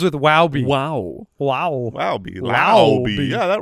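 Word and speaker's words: Laube: Lowby. That's it's Dylan Lowby. We looked it up. Yeah, we did. Rhymes with wow.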